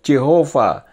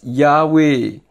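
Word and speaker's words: Yahweh: dictionary yahwe the hebrew tetragramaton YH WH traditionally pronounceed jehovah is now known to be correctly vocalized yahwe Mery F angers tahun 1957 halaman 1177 the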